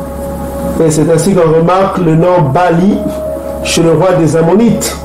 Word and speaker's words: Baal: C'est Bali. Ça se prononce Bali.